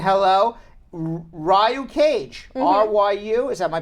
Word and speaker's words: Ryu: Ryu Cage, R-Y-U, is that my pronouncing it right?